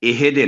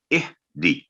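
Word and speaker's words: اهدِ: جگہ سے ہلے نہیں، یعنی یہ اہدے نہ ہو، اہدی، اہدی، اور اہدے دے کی آواز بھی لمبی نہ ہو، اہدی، تو یہ ہے اس کا صحیح تلفظ۔ آگے ہے انعمتا،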